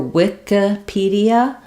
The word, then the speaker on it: Wikipedia: cyclopedia um so um they're both stressed in on the P of pedia so for Wikipedia um we have the